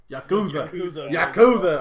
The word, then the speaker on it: Yakuza: Yakuza.